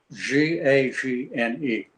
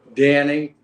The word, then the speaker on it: Gagne: right around the corner i pronounce my name g-a-g-n-e i pronounce it danny my next older brother my older brother danny pronounces it gagne bobby my oldest brother pronounced it ganyi and my sister pronounces it gany also so when with four children three of us pronounce it differently just if you're gonna